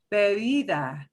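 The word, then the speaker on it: bebe: the word for drink the first bee is going to be a little more forceful the second b is between two vowels it'll go super super soft baby baby is a drink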